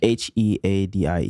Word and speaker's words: Headie: H-E-A-D-I-E. G-A-D-I-E. Okay, Headie, like head.